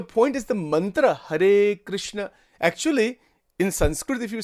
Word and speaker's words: Krishna: in Gujarat people don't say Krishna they say krashna that's a total mispronunciation you know but but that is that